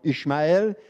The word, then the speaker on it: Ismaël: Isaac a été circoncis à l'âge de 8 jours, mais c'est Ismaël, ou comme les Juifs prononcent Ishmaël, qui a été circoncis à l'âge de 13 ans.